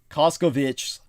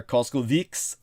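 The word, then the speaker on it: Kovács: is the real zultan it's covic zultan or cost would be another uh dialectical pronunciation so he's an analyst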